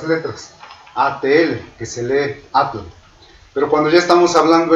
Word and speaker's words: atl: ATL, que se lee atl.